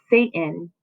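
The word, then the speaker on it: Seyton: If you pronounced it Satan, you were absolutely correct.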